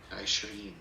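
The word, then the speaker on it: عشرين: 20 Remember this apostrophe before the letter I? That means we pronounce the letter Ain in Arabic. Ashrin.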